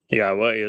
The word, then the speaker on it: Yahowah: Yahowah is God's one and only name as properly pronounced using the written instructions that we find